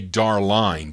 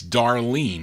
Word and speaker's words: Darline: I mean, you would think you would say Darline, but no, it's Darlene, not spelled with the way you would normally see it, E-N-E.